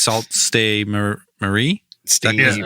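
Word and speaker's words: Sault Ste. Marie: be the first American to be like it's salt stay Marie is that is that right yeah and just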